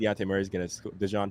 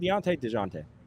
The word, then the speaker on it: Dejounte Murray: I think Dejounte Murray's gonna score a ton of points. Is it Dejounte? Dejounte. You pronounced the J.